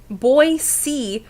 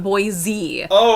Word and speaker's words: Boise: for Boise Coral said it's boy boy c not boy z i was mispronouncing it